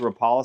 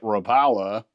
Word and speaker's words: Rapala: The fit and finish on it is perfect, and a lot of people see this as like the old Rapala style.